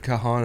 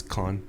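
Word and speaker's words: Caan: fine no I was I just heard Kahan and I was like wait who Kahan it took me a second I was like oh yeah it's it's Khan It's KH Scott Scott KH the son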